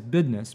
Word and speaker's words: business: business like nobody's business most of the characters always say the word business as bidness but there's in particular